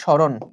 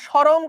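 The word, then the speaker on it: সরণ: অনেকে বলো ভাইয়া শরম কত? এই শরম না কিন্তু এটা কি শরম বল? অনেকে ভুল উচ্চারণ ভাইয়া। বস্তু যখন এই জায়গা থেকে এই জায়গায় গেল বস্তুর শরম তো পাই না। শরম মানে লজ্জা।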